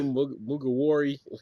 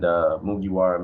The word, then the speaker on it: Mugiwara: Was it Mugawari? Mugiwara.